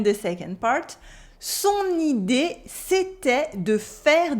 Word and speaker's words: c'était: C'était. We have an E sound and an E sound. C'était. The T is silent.